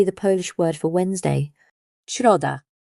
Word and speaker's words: środa: the English in sheep, with your tongue moving up toward the roof of your mouth. Think of it as a whispered, gentle sh. An example would be the Polish word for Wednesday, środa.